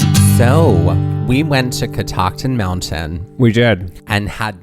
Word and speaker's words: Catoctin: it took us a while to even like pronounce it correctly right until we heard a local tell us it was catoctin mountain later did we realize right that this